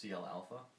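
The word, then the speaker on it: CLα: Flight Dynamics uh it's C sub L sub Alpha which is pronounced CL Alpha and so that gives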